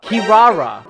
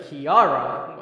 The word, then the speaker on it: Kirara: akari's protector kiara kiyawara what is that kiara kirara wait what that's how you say it bruh i thought it was like kiara i've been reading it wrong this whole time stupid the negotiation barely